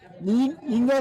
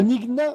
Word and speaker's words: Nina: Alors on nous dit que la Nina se prononce la Nina. Nina, c'est ça? C'est la Nigna ou la Nina?